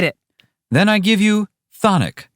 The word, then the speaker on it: chthonic: Well, the first C is silent. And not to mention the first H. Whatever. Thonic means having to do